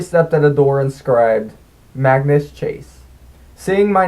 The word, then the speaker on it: Magnus: Mangus. Rhymes with Angus. I always corrected them. No, it's Magnus. Rhymes with Swagnus.